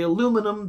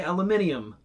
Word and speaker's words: aluminium: Differing from the American pronunciation is we say aluminum, they say aluminium.